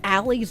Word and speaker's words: ally: did you know that alie's name also has another meaning it's spelled the same but you say it like this Al I do you know what